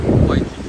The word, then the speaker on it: Waikiki: 呢度 Waikiki 係，佢哋個發音係 Waikiki，但係咧人少好多。